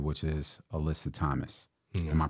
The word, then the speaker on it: Alyssa Thomas: You will be behind one of the best point guards in the W, which is Alyssa Thomas. Yeah. Am I pronouncing her name correctly?